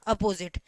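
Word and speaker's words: opposite: ओ ए फॉर अपोजिट अपोजिट अब देखिए जाए हम अपोजिट नहीं बोलते हैं इसे हम क्या बोल प्रोनाउंस अ लगाते हैं अ साउंड करते हैं अपोजिट ठीक है अपोजिट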